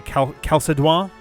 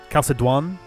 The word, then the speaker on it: Chalcédoine: There is a French name for this that's very similar to Chalcédoine. Chalcédoine.